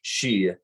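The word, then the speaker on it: sídhe: But in Scots Gaelic, in Scottish, it is not pronounced Sith. It is pronounced she, which is nearly identical to the Irish Gaelic she, which is spelled in English SIDHE.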